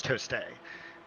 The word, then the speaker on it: Toste: With Jeremy Tost, or Toste, I believe he told us how to pronounce it. I believe it's Toste.